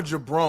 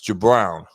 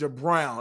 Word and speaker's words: Jabrown: First of all, is your name pronounced Jabrown or Jabron? I want to make sure I'm saying your name properly. I don't want to disrespect you. It's Jabrown. It's Jabrown.